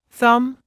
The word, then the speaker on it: thumb: in phone photo autograph be is silent at the end of a few words listen and repeat climb comb thumb lamb as an exercise